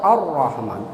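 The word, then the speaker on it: الرحمن: Jadi harus dibacanya tebal, Ar-Rahman. Jangan ar-roh, jangan gitu.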